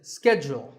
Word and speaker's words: schedule: in American English this is scheduled the first syllable is skipped and the second is jewel schedule in British English it